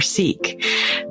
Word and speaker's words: Sikh: I didn't even know if you pronounced it sick or seek.